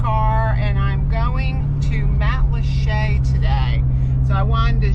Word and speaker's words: Matlacha: It's Matlacha, so you don't want to say Matlacha, but that is how you pronounce it.